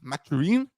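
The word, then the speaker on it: Mathurin: still be out there or bened matarin as the French Canadians actually pronounce it um and the Nets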